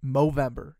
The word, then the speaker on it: Movember: Movember.